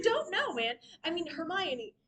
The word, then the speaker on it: Hermione: And yes, and yes, there are people out there who are like, I didn't know until the movie came out that it's not Hermmon.